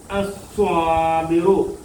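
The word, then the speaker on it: الصَّابِرُ: പറയത്തില്ല ഉച്ചരിക്കത്തില്ല ലാമിനെ പറയത്തില്ല അസ്വ അസ്വ അല്ലാതെ അൽസ്വ എന്നൊന്നും ന്നും പറയത്തില്ല ലാമിന് ഉച്ചാരണമില്ല ലാലീലു എന്നൊന്നും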